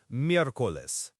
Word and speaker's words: miércoles: Wednesday is miércoles, M-I-E-R-C-O-L-E-S, pronounced miércoles. This one's a little longer, but it's linked to Mercury, Mercury's day, so miércoles. Whoa, miércoles. That E combination, that's where I used to trip up a lot.